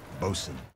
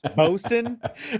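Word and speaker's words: boatswain: wishes to send his nephew aboard as a bosen that's how you pronounce the word boat Swain I was literally thinking the same thing it's bosen right I was like in my head that's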